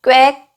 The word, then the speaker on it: 꽤: 꽤 꽤 팩트 게 꽤 케이크 아니고 꽤 왝 좀더 쎄게 발음 해요 꽤 꽤 우리가 꽤